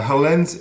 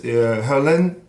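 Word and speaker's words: Heerlen: zoom it's the percussion ensemble of holland's uh helens herlen excuse me it's spelled h-e-r-l-e-n is a town in the south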